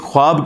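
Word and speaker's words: خواب: वाव उड़ जाती है इसको पढ़ने का तरीका है ख्वाब ये खवाब नहीं पढ़ा जाता वैसे उर्दू में चल भी जाता है लेकिन ये लफ्ज़ है ख्वाब तो वा उसमें फिर साइलेंट हो जाती है तो यह जो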